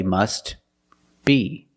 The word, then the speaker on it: must be: must be must be if you separate the words and you pause between words then you could say must be but if you link the words you pronounce it must be must be the t is silent because it's between consonants when you link the words must be link The Sounds